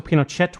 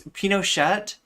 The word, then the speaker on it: Pinochet: Yeah, it's Pinochet. It's Shay is right, but it's no big deal. Wait, it's Pinochet. You pronounce all the letters in Spanish language names, right?